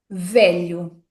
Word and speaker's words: velho: Pronunciando esta palavra sílaba a sílaba, teremos V. lho velho. E não se esqueçam de que a letra O, em fim de palavra, quando não é acentuada, é pronunciada como o velho.